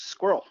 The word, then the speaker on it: SQRL: Yeah, it's Squirrel. Squirrel. Yeah, Love it. I joke I can't afford any vowels, so it's spelled SQRL.